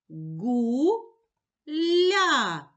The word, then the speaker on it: гуля: а голосний позначаю кружечком поділимо слово на склади гу ля скільки складів у слові два склади визначимо наголос покличемо слово гуля наголос падає на перший склад Пригадай звук Ґ на